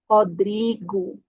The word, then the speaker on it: Rodrigo: Temos uma R no início, então a pronúncia vai ser como J, Rodrigo.